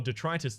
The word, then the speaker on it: Detritus: be going to the dentist disposal detritus disposal if you want to pronounce it correctly hopefully you've been enjoying